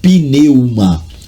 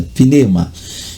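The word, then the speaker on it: πνεῦμα: E não pneumatiquia, que vem aí do grego pneuma, ou pneuma, como alguns leem, há quem pronuncie do jeito que lê, pneuma, mas é pneuma.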